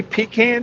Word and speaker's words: pecan: Why couldn't I be pecan tan? Pecan? Pecan tan. I like pecans. It's like pralines and pralines. It's pronounced differently.